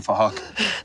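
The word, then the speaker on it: Phuc: We're spelled with a PH, so it sounds like Fahak.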